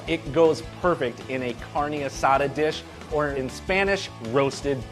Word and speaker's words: carne asada: beef Tom I'm making a carne asada and you gotta say it like that - dude you can't